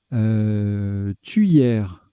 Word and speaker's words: tuyère: Tuyère, ou la prononciation de l'ODS, c'est quelque chose. Je pense qu'ils ont voulu dire tuyère comme cuillère, en fait.